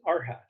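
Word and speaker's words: arhat: the technical term in the mystery schools is our hat it's spelled a-r-h-a-t that's the traditional term and the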